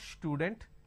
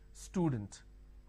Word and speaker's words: student: For example, if I have the word which is student, a lot of people make a mistake and they pronounce this with a sh. Student. It's not student, it is student.